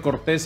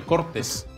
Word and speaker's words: Cortés: los responsables públicos al departamento de Cortés en vez de llamarle así se le llame departamento de cortes cambiándole la sílaba tónica porque no es justo